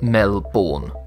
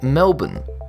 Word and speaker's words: Melbourne: Looking at the name, it screams to be pronounced Melbourne. This is anything but the correct pronunciation, and listening to natives mispronounce the word can be a bit grinding. I'm sure the Aussies cringe every time they hear that. The accepted pronunciation is Melbourne. According to learner's dictionary or to make it a bit easier, Melbourne and while we're still on